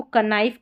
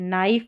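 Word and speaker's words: knife: जैसे इसको कनाइफ कभी नहीं पढ़ते। नाइफ प्रोनाउंस करते हैं। नाइफ। तो यहां पर एन से हमको प्रोनाउंस करना है इन स्पेलिंग्स में। एन से हमको पढ़ना है। के को हमको नहीं बोलना है। नहीं पढ़ना है।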